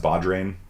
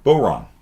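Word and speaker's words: bodhrán: know you'd you sorry you think it's pronounced badrain right bod drain no boron it's the boron you know and these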